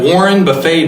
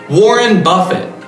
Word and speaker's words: Warren Buffett: is basically the same type of investing that Warren Buffet does away that's not how you pronounce it isn't warren buffett in case you don't know who he is